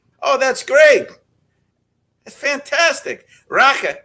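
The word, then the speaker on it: rakı: Raka, as they say, they don't pronounce the I in Turkey.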